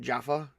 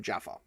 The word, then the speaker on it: Djaffa: I call it Djaffa because it's Djaffa. I imagine the D is silent.